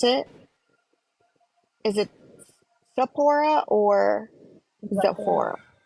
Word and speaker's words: Zepphora: pronounce it is it Zapora or Zora it's pronounced Sephora but you can just call me everybody does okay that's much